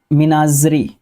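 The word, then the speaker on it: menagerie: Collection of wild animals kept in captivity for exhibition, मीनाग्री, मीनाजरी। Okay, मीनाजरी, ये spelling important है, pronunciation भी important है।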